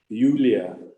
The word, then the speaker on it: Julia: It's spelled as Julia, but in German it's Julia, as though it were a Y-U-L-I-A.